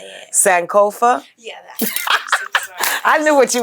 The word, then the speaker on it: Sankofa: saaka I don't know how to say it Sankofa yeah I knew what you was talking about